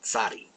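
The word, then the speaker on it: צדי: Excuse me, sadi. End of the word, and the name, our word is just the name of the letter. Sadi. Sadi. Remember, TS. Sa. Sa.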